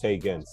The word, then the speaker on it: Taigenz: It's Taigenz.